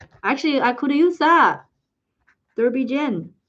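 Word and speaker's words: dzień dobry: Derby Zen. Derby Zen. Okay, I'm gonna write it down. Debris. I wish I need to pronounce it, but it sounds like debris gin.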